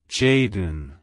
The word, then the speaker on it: Jaydin: It's pronounced as Jaydin. Jaydin. Jaydin. To pronounce it correctly, emphasize the J and then smoothly transition into the din sound.